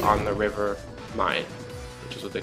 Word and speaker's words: Main: Am Main, I believe, means like on the river Main, which is what they call it. It's spelled like Main, so that's how you say it in German.